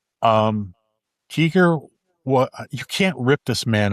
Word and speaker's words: Giger: Well, number one, it's pronounced Geiger, just not to humiliate you, but to I was waiting for that. I accept that and I appreciate the education. Um, Geiger, you can't rip this man off.